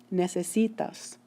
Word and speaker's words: necesitas: or the letter s so in pronouncing necesitas you should be able to hear that the stress is falling on the next to the last syllable mochila muchacho primavera yevam